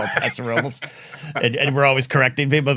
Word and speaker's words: Paso Robles: Yeah, I come from a town where Paso Robles is how you say it, but I would not say that's correct in the grand scheme of things, but the city is